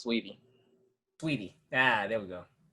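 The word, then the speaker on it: Saweetie: Oh, but by the way, her name's pronounced Sweetie.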